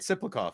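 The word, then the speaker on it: Tsyplakov: Siplakov. Yeah. The T is silent.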